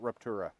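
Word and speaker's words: StarRupture: It's spelled Star Rupture, but they pronounce it Ruptura.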